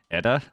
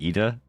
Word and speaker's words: Edda: How did I pronounce it again? Edda? And not Ida? Right?